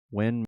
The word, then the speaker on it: Nguyen: When moon? Oh, no, that's how you say it. When. When. NGUYEN is pronounced when.